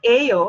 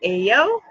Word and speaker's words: Ayo: self yeah so yeah I'm here with John a oh and how did I know that his name is pronounced au cuz I was going to say